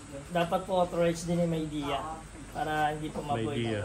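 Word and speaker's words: Midea: Paano pronunciation yan? Medea? Maydea po.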